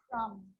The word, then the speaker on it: crumb: It's always silent when it follows the letter M. Climb, crumb, lamb, thumb, dumb, and plumber. So practice them with me. I'm not pronouncing the B, I'm just pronouncing the M consonant sound.